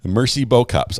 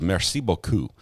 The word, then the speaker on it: merci beaucoup: face with big eyes Mercy bow cups I've never heard it pronounced like that I think it was merci beaucoup um or something close to that that's my best French